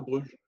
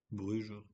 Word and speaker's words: Brugge: brug de panne ouais faut dire brug ou Bruge d'ailleurs prononce à la à la flamande Bruge ouais Bruge ça passe c'est ouais allez brug